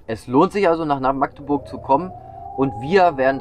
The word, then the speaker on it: Magdeburg: Das heißt nämlich, die sagen nicht Magdeburg oder ganz schlimm Magdeburg. Das ist völlig falsch. Das hat nichts mit der Markt zu tun. Magdeburg ist am besten oder Magdeburg. Betonung liegt auf Burg.